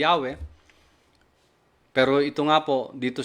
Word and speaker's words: Yahweh: yad he wad Hei na ang pronunciation ay yahwe Pero ito nga po